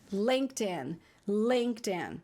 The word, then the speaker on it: LinkedIn: edinho gente linkedin inglês a pronúncia para quem não sabe é lêndea lêndea tá no linkedin em